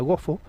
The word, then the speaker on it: gofio: palabras Como por ejemplo la palabra gofio que í se pronuncia gofo que tiene todavía Incluso